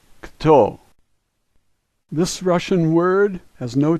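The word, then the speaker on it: кто: However, we're not accustomed to saying two consonants together like this. This word is kto, kto.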